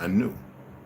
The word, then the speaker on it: Anu: new Anu an new it's actually pronounced an new we therefore find I